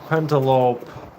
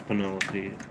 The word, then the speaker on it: Penelope: Pentalope. I know it's Penelope. Say it like that because there's a kid in my class that used to pronounce it like that.